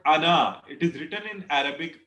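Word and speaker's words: أنا: However, the word ana is not ana. It is written in Arabic a, but it is pronounced ana.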